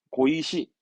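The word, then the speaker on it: 碁石: 발음은 고방 바둑판은 고방 바둑판은요 그렇죠 바둑돌이 되겠네 발음은 고이시 돌이니까 이씨는 고의식 바둑돌은 고이시 고이십니다만 요정도 시험적으로는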